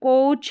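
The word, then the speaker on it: coach: यहाँ पर देखिए कोच है तो ओ का साउंड आ रहा है, ए साइलेंट है कोच, और लॉन्ग है च साउंड के लिए हमने लिखा सी एच।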